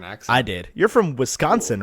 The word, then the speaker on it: Wisconsin: say it right Oh everybody else says Wisconsin and you're like Wisconsin it's like one like SC syllable there together who's come I can't